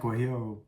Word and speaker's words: guajillo: Yeah, it was like guajillo.